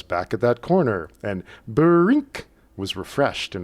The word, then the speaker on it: brink: From race number 203, Evening Criterium at Groot Amers, May 30th, 1975, I remember the sound brink, pronounced as 2 syllables, that popped into my